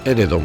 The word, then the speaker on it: Éredom: consejo reside en toledo escrita también de forma acentuada como el ere don con acento en la primera la forma preferida para